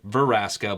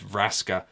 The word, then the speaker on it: Vraska: it's Braska I think I always pronounce it ver Aska but it is Raska so I do apologise